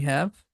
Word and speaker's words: ح: It has H sound. It comes from the end of the throat, the deep sound, Ha.